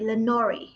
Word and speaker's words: Lenore: You've also written female characters for a number of high-profile IPs, including Lenore Brock in, did I pronounce it correctly? Lenore.